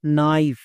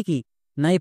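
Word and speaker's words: knife: এবং শেষে ই আছে ই সাইলেন্ট মানে উচ্চারণ করতে হয় না তাহলে কি হলো নাইফ নাইফ মানে কি নাইফ মানে হচ্ছে চাকু একে আমরা ভুল করেও কে নাইফ বা কোনাইফ এরকম উচ্চারণ করবো না কারণ এখানে কে সাইলেন্ট এবার কোন লেটার কখন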